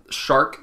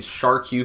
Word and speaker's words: SCUF: team and basically the company is shark controllers and it's spelled with a Q and I apologize in my previous videos I was calling me shark you controllers I didn't know that they were actually shark it makes sense now